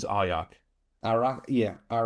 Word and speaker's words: Arjac: I would say the pronunciation is Ayak.